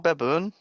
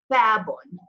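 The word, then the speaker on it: بابٌ: Okay, so how are you going to pronounce that? Is it baboon? Babun. Babun. Okay?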